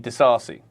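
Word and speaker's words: Disasi: touch good idea so Peter Drury with his pronunciation calls what I was calling Axel Desi desasi I'm not sure I think I might stick with the sassy personally where is kaisado wasn't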